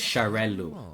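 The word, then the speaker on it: Xarel·lo: And so they have this separate letter called the floating L or the twin L where you put a dot in the middle so that you pronounce both L's. So it's charel.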